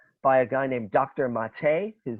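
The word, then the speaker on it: Maté: of hungry ghosts by a guy named dr mate his name is spelled m-a-t-e with a little accent over it dr mate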